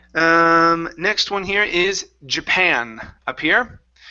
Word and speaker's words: Japan: Um, next one here is Japan up here. Stress on the end.